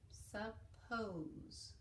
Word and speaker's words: suppose: And then where we see at the end, silent E, so it makes the O say its name. Suppose.